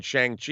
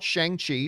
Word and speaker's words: Shang-Chi: And I'm sure it's going to come down the pike, because when the movie comes out, everyone's saying Shang-Chi. If that's not the right way to pronounce it, we're going to hear about it.